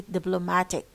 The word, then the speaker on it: diplomatic: طبعا I see diplomatic.